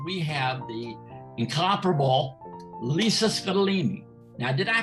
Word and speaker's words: Scottoline: have the incomparable lisa scadolini now did i pronounce that right in scotland that's perfect my dad always says it rhymes with fettuccine so you did perfectly